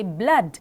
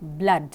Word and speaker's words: blood: When I say blood, it has double O-D, B-L-O-O-D, blood. When you say flood, it is F-L-O-O-D, flood. But blood and flood are not pronounced as food.